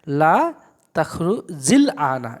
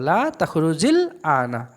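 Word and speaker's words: لا تخرج الآن: শেষ হরফে একটা জেন নিয়ে আলিফের উচ্চারণটা সাইলেন্ট করে লামের ওপর জজম নিয়ে আসবো, সাকিন নিয়ে আসবো। তো কীভাবে পড়বো একটু দেখে নেন। লা তাখরুজিল আনা, এভাবে পড়বো, লা তাখরুজিল আনা।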